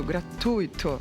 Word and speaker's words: gratuito: O U e o I fazem parte da mesma sílaba. É, né? É, não há acento. Se houvesse acento, seria como a Fernanda falou. Circuito. Mas como não há o acento, as duas letras estão na mesma sílaba. Então é uito.